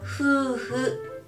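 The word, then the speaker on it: ふうふ: Hu hu. Hu hu. Hu hu. Pag ipa-pronounce natin siya, H-U, hu. Hu hu. Pero pag isusulat po natin siya na Roma G, spelling niya po ay F-U, hu-hu.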